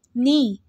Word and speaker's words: knee: Knee. K is also silent in knee.